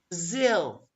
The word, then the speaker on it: Brazil: The same goes for Japan, the ga, or Brazil, the ga, Brazil. Okay.